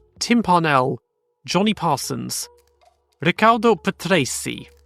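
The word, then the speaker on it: Patrese: Pell Johnny Parsons Ricardo Petra a lot of people say Petra including myself normally but I think it say pety is more like what it actually is alpas Roger Pensky um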